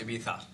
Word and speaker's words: Ibiza: to by the way it's pronounced Ibiza like you'd be like with a lisp there's a story but